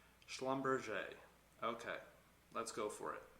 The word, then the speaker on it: Schlumberger: to look at is schlumberg i always say that wrong my bad um i butcher their name no matter how many times i try to say it i always butcher it schlumberger okay let's go for